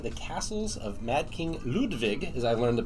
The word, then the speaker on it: Ludwig: to be playing the castles of Mad King ludvig as I learned the pronunciation today from bezier games so one thing